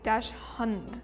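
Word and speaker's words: Dachshund: I think if I read it straight, even though we're like everybody says dashhound, it would be dash hund if I read it straight.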